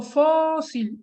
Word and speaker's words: fósil: el golpe de voz yo digo fósil en dos sílabas y digo fósil la sílaba tónica más fuerte que son todas las que están aquí con rojo es pop entonces si la sílaba tónica está aquí en la penúltima yo me entero que esta es una palabra grave después tengo una palabra